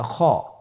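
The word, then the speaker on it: خاء: খ হফটি হল মোটা হারাফ। উচ্চারণের ক্ষেত্রে মোটা হবে।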